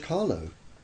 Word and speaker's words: Carlo: Do you know how it's spelled, Carlo? No, Carlo, C-A-R-L-O, George Carlo.